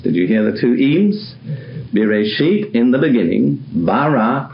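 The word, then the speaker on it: ים: Now, the normal plural in Hebrew, not the only one, but the normal one, is adding two letters, im, which are pronounced im.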